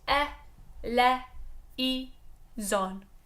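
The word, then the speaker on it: eleison: we always get that so we'll always sing on four syllables on pure vowels E le e zon done pure and simple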